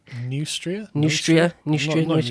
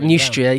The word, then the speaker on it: Neustria: But I've heard it said that the Burgundy, Austrasia, and how do you pronounce what becomes Normandy? Neustria. I've only ever seen it Neustria, yeah.